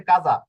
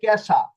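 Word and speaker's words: casa: হচ্ছে ইটালিয়ান ভাষায় হচ্ছে ইটালিয়ান উচ্চারণ হচ্ছে কাজা আ এস এ আ কাজা হ্যাঁ সি এ এস এ কাজা কিন্তু ইংরেজি ভাষায় হয়ে যাবে কেশা সি এ কে এস এ সা কেশা তো কোথায় কেশা আর কোথায় কাজা কাজা পরীক্ষা জ আকার জা কাজা আর কেশা দুইটা কিন্তু দুই ধরনের হয়ে গেল এজন্য আপনাদেরকে উচ্চারণ শিখতে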